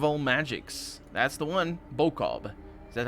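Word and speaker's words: Boccob: Bokob. Is that how it's pronounced? Bokhob is how it's pronounced.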